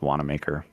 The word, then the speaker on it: Wanamaker: it's it's spelled like it's very german looking name but it's pronounced wanamaker and i saw i